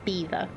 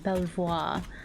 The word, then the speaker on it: Belvoir: how you spell it that's toaster and that's Beaver it's I I just find the pronunciations oh British towns really funny sometimes cuz you'd expect it to be tow Chester and Belvoir I've been corrected um